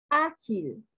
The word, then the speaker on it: ágil: Ágil. En la, no. En la A, ágil.